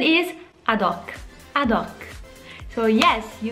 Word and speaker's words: ad hoc: And last one, I know you use this too, but the pronunciation is ad hoc.